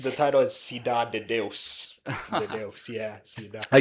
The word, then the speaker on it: Cidade de Deus: But since it's in Portuguese, like It's pronounced. The title is Cidade de Deus.